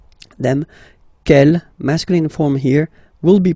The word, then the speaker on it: quel: And the good news is that you will pronounce them the same way. Alright, so quel, quel, quel, and quel. Okay, remember that in some